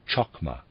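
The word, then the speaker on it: Chokmah: as it were was called chakma wisdom readers aside spelled c-h-o-k-m-a-h and it read reads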